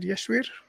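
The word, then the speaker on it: Yasir: the horse bro yesir how do you say your name is that yesir yes it's yes okay where are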